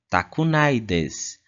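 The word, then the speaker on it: たくないです: A próxima forma é a forma negativa para o tai desu, que vai ser pronunciada como takunai desu. Takunai desu.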